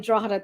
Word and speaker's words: Drogheda: Drogheda is nice when you go Drogheda, there. you say it right. You pronounce it proper.